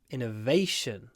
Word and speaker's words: innovation: the I Innovative but if it's a noun Innovation stresses on the a the government has invested